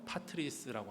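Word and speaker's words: πατρίς: 이 본향이라는 단어의 헬라어 발음요, 파트리스라고 합니다. 파트리스.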